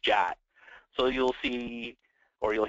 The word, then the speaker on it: JWT: They use a JSON Web Token, which is abbreviated JWT and pronounced JOT. So you'll see, or you'll hear people say a JOT token.